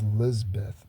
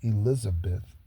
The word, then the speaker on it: Lizbeth: And then the other woman, her name is Lizbeth, not Elizabeth. It's spelled Lizbeth, and her middle name is Rose.